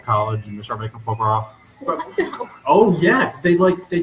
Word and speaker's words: foie gras: You have to say There's like a lot of extra vowels and that aren't pronounced.